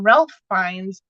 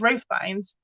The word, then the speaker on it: Ralph Fiennes: And I'm looking at it and I'm like, why are they calling him Ralph Fiennes? And no, it's not Ralph Fiennes, it's Ray Fiennes, but it's Ray Fiennes. So I literally learned that I've been saying his name wrong my whole life because well, yeah.